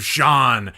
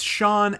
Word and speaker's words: Sean: how this roast of Jean is going to be extreme sorry sorry I got your name wrong it's Sean ax actually yes this little